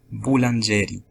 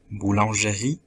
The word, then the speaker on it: boulangerie: dans le cas premier ils ont dit plus tôt ghoul angel avec l'accent dans l'avant dernière syllabe jeu au lieu de prononcer boulangerie avec l'accent dans dernière syllabe dans le cas du